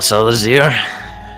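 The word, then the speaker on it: Salazir: all right s-a-l-a-z-i-r oh z-i-r i see well selazir it's a pleasure to have your company avengers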